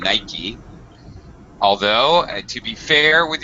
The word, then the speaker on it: Nike: uh yeah also notice my pronunciation of Nike as a two syllable word uh I know this